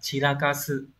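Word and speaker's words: 散らかす: Các bạn có động từ này đọc là chirakasu.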